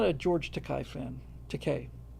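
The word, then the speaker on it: Takei: Teay rhymes with toupe.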